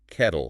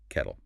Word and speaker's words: kettle: It has a double t in the middle. But native speakers often say it very quickly. Yes, depending on where you are from, the double t can sound very soft. Mhm. In American English, it almost sounds like a quick d. Kettle. Kettle, right. But in British English, it's a very sharp t.